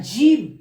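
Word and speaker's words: جيم: আর জিম। জিম উচ্চারণ হয় জিভের মাঝখান আর তার সোজাসুজি উপরের তালু, এই তালুর সাথে জিভের মাঝখানটা লেগে জিম উচ্চারণ হয়।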